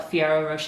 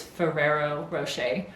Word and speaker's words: Ferrero Rocher: always say it wrong i always want to call it fiero roche but i'm pretty sure it's ferrero rocher i'm fairly certain i